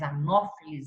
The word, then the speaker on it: Anopheles: Mas Anopheles é o nome correto, a pronúncia correta.